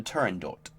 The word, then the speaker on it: Turandot: For a long time, I pronounced it Turandot. Then, after looking into the pronunciation, I've modified it to Turandot.